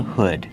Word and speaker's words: hood: This long sleeved shirt has a hood. Kevin, how do you pronounce it? Hood. Use the short sound like good. Hood. Not hood, but hood. Make that sound like good and wood.